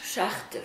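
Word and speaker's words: Szachter: It's pronounced Schachter.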